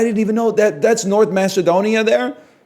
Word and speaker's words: North Macedonia: Yeah, but I can't talk about it because it makes me defend Wayne Gretzky, because it's actually, apparently, it's supposed to be pronounced North Macedonia.